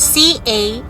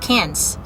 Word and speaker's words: Cairns: When you say cans, the C-A-I-R-N-S, which when you say it, the first thing you say is cairns, right? But they don't say it like that. They have to say it cans, like K-E-N-S, cans.